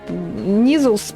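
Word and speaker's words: Kneazle: Читается как Низл. Это как, то же самое, как knife и knife.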